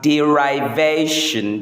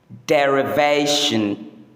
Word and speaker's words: derivation: This word is often mispronounced as derivation because the verb form is derive. But the correct pronunciation is derivation.